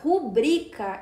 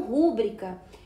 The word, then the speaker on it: rubrica: E o certo é se pronunciar rubrica e não rúbrica.